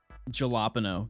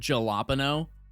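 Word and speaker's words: jalapeño: song no next song jalapeno the amount of times I've heard jalopano or like jalapeno crazy so I went 100K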